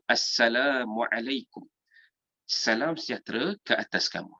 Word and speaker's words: Assalamualaikum: Ada yang bagi Assalamualaikum, Semikum, S-E-M-E-K-U-M. Ada yang lagi dahsyat tu, Samkum, ada juga Samkum pun ada. Jadi kita nak kata kalau boleh, kalau kita ni sebut pronounce tentang satu perkataan word itu dengan cara yang betul, maka sebaiknya kita sebut juga lafaz salam ni dengan lafaz yang betul. Jadi kita sebut apa? Assalamualaikum.